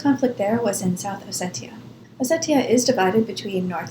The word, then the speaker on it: Ossetia: I have heard it both Ossetia and Ossetia. In Cyrillic, it's written with a T, so I'm going to go with Ossetia.